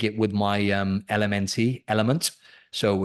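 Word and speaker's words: LMNT: so I take it with my um LMN element so it's a electrolyte I if you not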